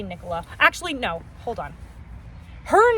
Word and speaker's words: Nicola: It's Nicola. Okay. I'm not Nicole. Nicole's somebody different.